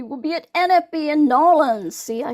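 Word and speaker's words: New Orleans: And then we will be at NFB in Nolans.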